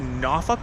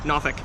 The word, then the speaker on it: Norfolk: Did you just say Nofuk? NFK. NFK. Is that Nafk? Uh yeah. The R is kind of only half pronounced.